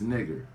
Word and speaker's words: Niger: N-E-E-G-E-R is the pronunciation of that word.